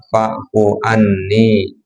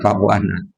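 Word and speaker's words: فاعف عني: Itu kata Rasulullah, ucapkanlah Allahumma innaka afuwun tuhibbul afwa fa'fu anni. Ya, bukan fa'fu anna.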